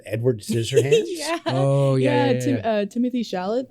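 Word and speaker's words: Timothée Chalamet: Timothy Chalamet, I believe is how you say his name, and Winona Ryder.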